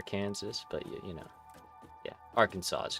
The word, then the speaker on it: Arkansas: No, like it's spelled R Kansas, but we say it Arkansas.